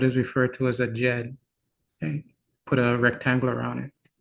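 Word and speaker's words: djed: This symbol is what is referred to as a Jed.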